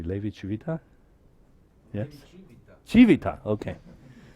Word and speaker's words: Levi-Civita: Levi Civita? Yes? Civita, okay. So you should put it in the emphasis on the first. Civita, okay. Levi Civita.